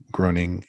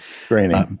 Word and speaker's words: Groening: Matt Groening. But I always mispronounce his last name. Groening. That's okay. Groening.